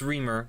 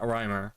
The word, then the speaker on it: Reamer: It's Reamer, not Reimer, okay?